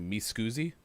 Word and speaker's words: Miscusi: The other one is, am I saying it correctly? Miscusi? Yep. Yeah. Perfect. Okay, so Excuse me.